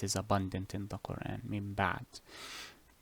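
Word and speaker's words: مِنْ بَعْدِ: Just in case I cannot find it because it is abundant in the Quran, min ba'd. Here you will change, as the name implies, change the noon to what? To a meme.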